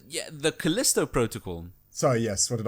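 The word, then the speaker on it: Callisto: You got Costello Protocol which I don't can't actually remember the music for that. Can you? Was that correct? Yeah. The Kalisto Protocol.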